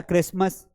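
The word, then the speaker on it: Christmas: नेसल ऑफ अक्सर चच चुड़ेल rustic है ना क्रिसमस रेसल तो ये क्रिसमस में जो टी आता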